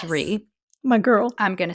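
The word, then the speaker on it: Rhea: up so re I think it's pronounced re my girl I'm GNA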